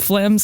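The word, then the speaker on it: phlegm: the day AIA or fleem flem's another awful word the way that g is hidden under there like a sort of animic Silent G now you're grossing me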